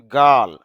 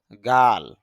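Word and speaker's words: girl: বা হওয়া জায়েন্ট দৈত্য বা বিশাল গিফট উপহার গার্ল যদি আমরা গার্ল এরকম উচ্চারণ করি র সাউন্ডটা নিয়ে আসি আর সাউন্ডটা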